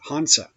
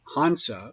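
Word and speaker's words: हंस: The classical mode of spelling the Vahan of Brahma in Sanskrit is Hanasa, or Hansa. It is commonly pronounced Hansa or Hans, or rather with a strong nasal.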